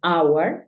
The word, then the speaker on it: hour: cuatro palabras en las que la H es muda por ejemplo Hour que es hora tenemos